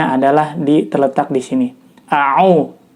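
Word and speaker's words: أَعُوذُ: di terletak di sini aau ya bukan ao itu kesalahan pertama ketika membaca lafadz Ta'awudz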